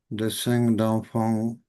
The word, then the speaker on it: dessins d'enfants: As we heard, it is usually mm, uh, pronounced in French, those speaking English. Dessin d'enfant.